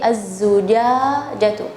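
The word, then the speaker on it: الزُّجَاجَةُ: Nah, juga ketika melafalkan kalimat az-zujajah, ya, az-zujajah, az-zujajah, tapi az-zujajatu, az-zujajatu, ya, az-zujajatu, ya.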